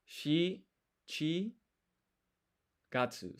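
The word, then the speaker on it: 七月: And this is Shichi Gatsu. So Shichi is one way of saying 7, because you can also say nana, but Shichi is used for the month.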